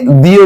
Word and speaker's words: the: এই যে আমি বলছি দা এবং দিও বলছি দিও বলছি কখন কোনটা বলছি দেখেন আমরা যখন ওয়ারের